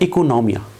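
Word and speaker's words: οἰκονομία: है Greek word से जो कि प्रोनाउंस होता है इकोनोमिया बेसिकली जो इकोनॉमिक्स टर्म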